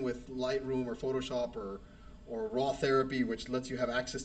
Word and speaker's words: RawTherapee: There is Raw Therapy, and it's spelled RAWTHERAPEE, like take a pee.